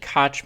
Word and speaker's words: Koch: Saturday was the Coke I'm going to say Coke media because I think that's how it's pronounced although the presenter said cotch media but frankly I think that presenter was misinformed uh I thought it